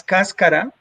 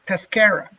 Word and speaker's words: cascara: that that coffee skin the sun dried coffee skin as cascara but in the states they pronounced it tascara and so why bother